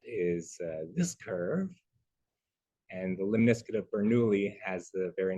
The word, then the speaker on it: Lemniscate: And he did a video about this particular mathematical curve, which is called Lemniscate, because it rhymes with biscuit.